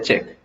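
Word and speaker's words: cheque: ठीक है, चेक यूई, चेक यूई नहीं है, चेक है। ठीक है, तो स्पेलिंग रहती है ऐसी, तो चेक है, इसको हम बोलते हैं चेक।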